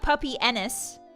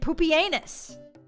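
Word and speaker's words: Pupienus: That's the That's the Greek That's the ancient Roman way of saying it. It's not puppy. They pronounced it poopenus.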